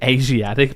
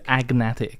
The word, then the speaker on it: agnatic: You say Asiatic primogenitor. It's asiatic. It's agnatic.